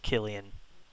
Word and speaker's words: Killian: Oh, it is pronounced Killian.